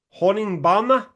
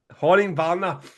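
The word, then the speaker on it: Honningbarna: to give a Norwegian band a shout out Horning Barner. Quite happy with that pronunciation James. Very happy mate. I was waiting for it. Horning Barner.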